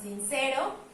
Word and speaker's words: sincero: Pasamos con sincero, sincero. Puedo identificar que acá se oye más fuerte, entonces también entra en la clasificación de palabra grave y esto no afecta a la métrica.